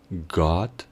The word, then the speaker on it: God: lo referente a pronunciación la diferencia estaría en que la o de Dios se sonaría como una a God got mientras la o en bueno sonaría como una u Good good para facilitar el estudio